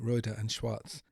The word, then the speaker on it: Rohde & Schwarz: working with the new reuter and Schwartz mx04 oscilloscope and yes after a long online debate that is how one is supposed to pronounce a manufacturer name Schwartz after the first two